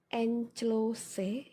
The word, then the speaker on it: enclose: itu kata lainnya juga inkless tulisannya enclose ya bacanya enclos itu juga artinya melampirkan